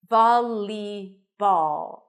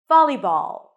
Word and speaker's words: volleyball: some speakers Val but it's not a dark L as it is in the word ball listen to the difference